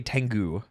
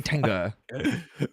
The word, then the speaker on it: Tengu: No, because Americans don't know how to say Tengu. Oh. So they say Tenga.